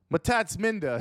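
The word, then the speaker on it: Mtatsminda: or mamenda maspinda matats matatsminda sounds like i got my tats from linda yeah linda is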